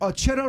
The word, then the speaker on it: Churro: Roll your R's with your name. Churro.